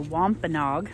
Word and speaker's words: Wampanoag: arrived before the Pilgrims and they're called the Wampanoag I know how to say it now but